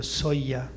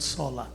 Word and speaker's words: Solla: name is actually if you pronounce it right it's a media soya because this is Spanish it's not solar it's not Italian never in touch it's